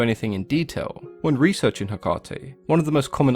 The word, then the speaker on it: Hecate: The most common pronunciations that I came across were Hecate, Hecate, Hecate, and Hecate, which all sound pretty reasonable to me. But if we take a look at the way it's pronounced in Greek, it's Ergati, which could easily be translated to both Hecate and Hecate, so I guess it comes down to personal preference and which part of the world you're from.